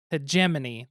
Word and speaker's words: hegemony: But I've heard it several different ways, never knew how it was pronounced, and it's hegemony.